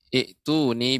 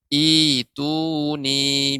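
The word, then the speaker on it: ائتوني: Sehingga termasuk dari mad badal, dibaca dengan ituni bi kitab. Ya, jadi jangan sampai salah, jangan sampai kita keliru dalam membaca surat Al-Ahqaf ayat 4. Ya. Cara membacanya adalah ituni, bukan ituni.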